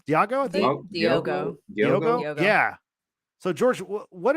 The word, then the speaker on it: Diogo: His name's Diego or Diego. How do you say his name? Diego, I think. Diogo.